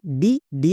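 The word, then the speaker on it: dead: একার করবো যেমন দেখো ডি ই এ ডি ডেড এখানে ই এ এর পরে ডি আছে আর কিন্তু নেই তাই এককার হয়েছে একই রকম ভাবে বি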